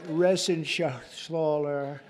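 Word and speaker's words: Reschenthaler: and Guy Ren shaala you know that Ren Scher he uh that's actually the way you pronounce it you know nobody else gets it right I got it right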